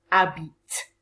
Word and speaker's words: habitent: Nous habitons, vous habitez, ils, elles habitent. Okay? Remember that the ENT when you're speaking on the end of a verb is silent.